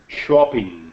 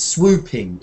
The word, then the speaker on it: swooping: It's not swapping, and swapping is when you exchange something, like business cards or something, or telephone numbers with somebody. Let's swap telephone numbers or exchange. But this is swooping. Ooh, swooping. Swooping.